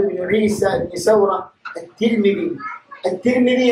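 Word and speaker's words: الترمذي: അത്തിർമിദി എന്നാണ് മഷ്ഹൂറായ ഉച്ചാരണം. നമ്മുടെ നാട്ടിലൊക്കെ ചിലര് തുർമുദി എന്ന് പറയും. അതിന്റെ പ്രസിദ്ധമായ ഉച്ചാരണം എന്താണ്? അത്തിർമിദി. അതായത് താന്താണ് കസ്റാണ് കൊടുക്കേണ്ടത്.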